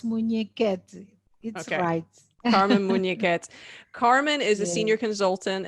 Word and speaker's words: Munhequete: that can be corrected actually you pronounce it well it's muneket carmen is a senior